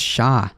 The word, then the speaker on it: chat: here what's going on oh cat is actually pronounced chat in french what is that for real how's it going zimba monkey by the way uh thank you so much for joining simbu is a fellow majority reporter appreciate you fan oh pronounced shah like huh that's interesting i